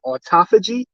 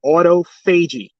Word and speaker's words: autophagy: what they call um people pronounce it differently but you got autophagy or you'll hear autophagy now remember phage is